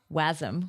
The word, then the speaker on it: wasm: MSM for gpus and MSM for wasm which I'm now pronouncing it because it's web assembly I've been told um but yeah like